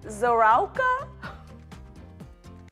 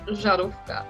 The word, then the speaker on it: Żarówka: I believe the Polish word is Zarauka? Żarówka? I was so close. Okay, say it one more time. Żarówka.